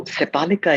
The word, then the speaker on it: Sepalika: So Sepalika is the name of the clinic. It's spelled Sepalika.